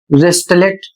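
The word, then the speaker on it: wristlet: अगला शब्द है डब्ल्यू आर आई एस टी एल ई टी और इसे पढ़ा जाएगा वेस्टलेट और इसका अर्थ होता है कंगन।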